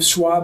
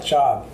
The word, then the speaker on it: Schaub: Schwab is the usual mispronunciation. Okay. But Schaub. Schaub.